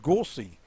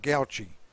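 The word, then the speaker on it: Gauci: Messages, Gauchi is pronounced Gorsey, not Gauchi.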